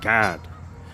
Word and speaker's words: Gad: And in the Hebrew, it is pronounced God, which means troop.